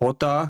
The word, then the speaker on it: jota: In Spanish, J is pronounced as Jota, and P is pronounced as Pay.